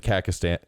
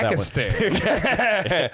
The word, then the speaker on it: Kazakhstan: He exiles him to Kazakhstan. Yeah, Kazakhstan. Kazakhstan? Yeah. Kakistan. We're going to Kakistan. We're going to take it over. I knew I was missing a syllable. You missed several.